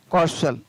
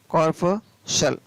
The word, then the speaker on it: corpuscle: SCLE, CORPUSCLE कॉर्पशल, कॉर्पशल, तो यहाँ पर भी कॉर्पसल में भी सी का उच्चारण है वो नहीं हो रहा है।